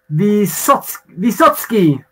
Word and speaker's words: Vysotskyi: though because i can't even know how to spell it the satsuki yeah great that was absolutely perfect it's probably